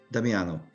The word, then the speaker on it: Damiano: your name i mean damiano damianus it's diamond with an o damiano okay thank you thank